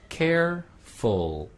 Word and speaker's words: careful: 그 다음에 careful R 발음도 있고 L 발음도 있네요.